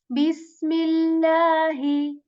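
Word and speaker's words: بسم الله: So this seen letter, just like English letter, kind of S letter with this whistle sound in it when we say bis. I hope you can hear the whistle sound in it, just a bit of it.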